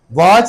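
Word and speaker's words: watch: वॉच में आपने टी क्यों लिखा है, कितनी दफा वॉच वर्ड हो चुका है। वॉच में बहुत दफा करवा चुका हूं, उसमें बताया टी साइलेंट है।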